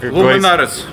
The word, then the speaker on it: Loomy Nareez: Правильно читается? Луминарес.